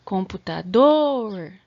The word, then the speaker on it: computador: se tiver com dúvida computador a sílaba tônica foi a última o dor Então ela é uma palavra oxítona tá então vocês façam